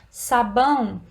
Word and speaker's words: sabão: Depois, sabão, a sílaba tônica é o bão, é a última sílaba.